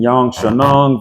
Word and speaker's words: Xiaonan: Xiaonan versus Virna.